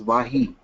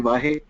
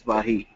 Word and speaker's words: Wahi: just want to tell you that my second name is pronounced as Wahi. Oh, sorry. No, that's fine because while I was at IIT studying there, a lot of my friends used to call me Okay. because of my surname. And you tingle the same nostalgic spirit today by calling me Vahe, but that's Okay. fine. is also nice, but it's pronounced as Vahi, Ratish Okay.